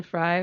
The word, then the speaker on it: Frey: mention him is Glenn Fry from the Eagles not everyone in here is a big Eagles fan I think it's Frey and yeah it's fry it's fry it's spelled Frey but it's fry oh yeah well I